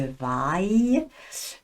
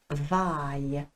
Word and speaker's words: vaille: verbe vouloir là encore je tiens à rappeler la différence au niveau de la prononciation valoir c'est il faut que je vaille euh vouloir c'est il faut que je veuille veuille vaille différent h il y a